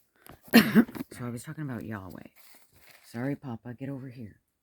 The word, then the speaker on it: Yahweh: This is how you pronounce it. Inhale, exhale. Life. Inhale, exhale. Yahweh. Breath of life.